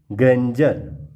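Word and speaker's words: grandeur: तो जब भी डी के बाद ई यू आर आए तो वह ज प्रोनाउंस किया जाता है, ग्रेंजर।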